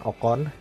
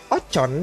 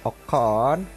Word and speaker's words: Ocon: dari sang debutan yaitu Esteban okon bukan ocon dibacanya tetapi okon karena banyak media sini